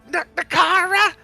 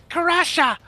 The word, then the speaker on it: Karasha: We gotta save the Nakara. No, that's not how you pronounce it. Karasha!